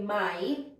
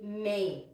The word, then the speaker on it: may: is really my because because in Filipino we don't have the a sound right so we never we never read this as Main it's always my and this is the